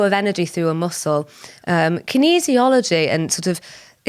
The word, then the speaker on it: kinesiology: Well, kinesiology is...